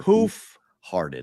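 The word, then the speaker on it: Hoof Hearted: That's where Ken Miller had the call for Hoof-hearted. Heart Ed. 3 words. Hoof as it's spelled, heart as it's spelled, and then ED.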